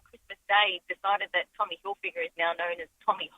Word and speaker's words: Hilfiger: There's no N in it. Like, you can see that. Yeah, but Hilfinger's more catchy.